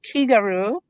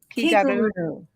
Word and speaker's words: Kigaru: it's pronounced Kigaru. Kigaru. And it's a Japanese word.